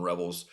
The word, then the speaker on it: Revel: Well, they spotted uh, Savone Revel's dad and he clarified exactly what the pronunciation of his and his son's name was, Junior and Senior. It's Savone Rebel.